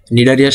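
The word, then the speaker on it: Cnidaria: পর্ব নাম্বার দুই নিডারিয়া নিডারিয়ার সামনে কিন্তু সি আছে ঠিক আছে কিন্তু টা সাইলেন্ট থাকে এই সি টা সাইলেন্ট থাকে নিডারিয়া নিডারিয়া সি বাদ দিয়ে উচ্চারণ করে দেখো নিডারিয়া কিন্তু সি এর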